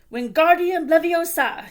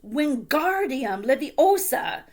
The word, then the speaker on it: Wingardium Leviosa: "Wingardium Leviosa!" he shouted, waving his long arms like a windmill. "You're saying it wrong," Harry heard Hermione snap. "It's Wingardium Leviosa. Get the gar nice and long."